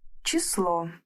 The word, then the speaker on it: число: Numbers in Russian are very easy, but before we start, let's learn how the word number is pronounced in the Russian language. In singular, we say число.